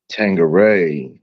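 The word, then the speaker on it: Tanqueray: Tangeray is how you say it.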